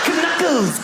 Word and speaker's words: knuckles: Why would a K BE SILENT? KICKERS. WHY IS IT KNUCKLES? CANUCKLES.